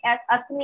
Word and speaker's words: ASMI: pistol जिसका नाम है ASMI या असमी आप pronounce कर सकते हैं, वो DRDO ने बनाई है.